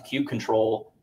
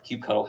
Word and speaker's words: kubectl: to just exec out to kube control to or kubectl, however you want to argue about how it's said.